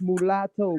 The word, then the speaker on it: mulatto: That explains why he's confused, because he don't know what a mulatto is himself. Because he can't even read and pronounce the word right to understand what it is. That's mulatto, brother.